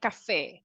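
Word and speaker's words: café: we say Cafe okay Cafe like the pronunciation that we give in Spanish Cafe if you are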